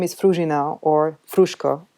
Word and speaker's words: Fruzsina: would like to introduce myself my name is fruginau or frushko it's much easier to pronounce i'm a promoter manager and i used